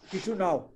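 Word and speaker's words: Chișinău: किशुनाव, किशिनाव, किशुनाव की क्या स्पेलिंग देखो बेटा, क्या है?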